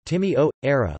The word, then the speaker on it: Timișoara: Timișoara, Romanian pronunciation, Timișoara, listen, German, Temeswar, also formerly Temesberg or Temeswar,